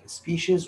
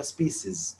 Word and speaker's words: species: طبعا يدرس السبيشيز حقة الكائنات الحية اللي هي أنواع وكائنات وطوائف الكائنات الحية، تنطق سبيشيز، والأمريكان يقولها سبيسيز، تنفع الاثنين سبيشيز وسبيسيز، يعني أنواع الكائنات الحية.